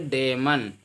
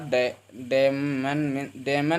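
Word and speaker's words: damn: देखो लिखा है डेमन में एन आपका साइलेंट हो जाएगा, क्योंकि एम के बाद एन आया है तो आपका एन साइलेंट हो जाएगा। डेमन नहीं पढ़ेंगे बल्कि पढ़ेंगे डैम।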